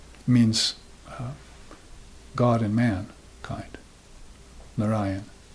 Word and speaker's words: Narayan: Narayan. That's how you put that emphasis on the second syllable. Narayan. Narayan. It's the best way to say that.